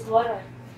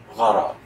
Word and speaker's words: gharar: Is guru the same as gharar?